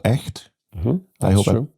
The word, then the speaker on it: Echt: I think it's a place called Echt. I hope I pronounce it correctly.